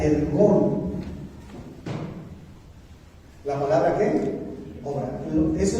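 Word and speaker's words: ἔργον: Es ergón. Escúchame. La palabra griega llamada, o que quiere decir, o que se pronuncia ergón.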